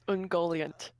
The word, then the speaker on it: Ungoliant: yep also pronounced yep um ungoliant is often how it's pronounced in the movies yep what kind of